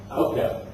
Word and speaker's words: AOCAP: How do you pronounce it? AOCAP.